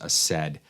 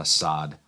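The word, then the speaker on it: Asad: is LFA assed and one of you guys corrected me long ago that this is pronounced a said and not Assad first instinct is to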